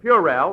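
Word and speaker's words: puerile: You've been pronouncing them words all wrong. What do you mean? Well, I found out in night school that the correct pronunciation is purel and banal.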